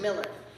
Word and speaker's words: Mueller: My name is spelled Mueller, but it is pronounced Miller.